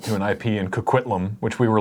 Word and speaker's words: Coquitlam: C-O-Q-U-I-T-L-A-M. Coquitlam. But pronounced Coquitlam because no one says words properly.